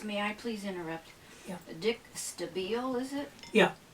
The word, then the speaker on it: Stabile: I please interrupt dick stabile is it yeah the I is an e sound right yeah dick was